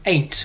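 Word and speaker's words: Eighn't: The next track that I did, which was very shortly after, was called Chaos, and it was with a guy called Ain't, which is spelled EIGHN''T.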